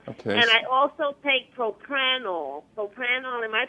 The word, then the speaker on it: propranolol: And I also take propranolol. Propranolol, am I pronouncing it right?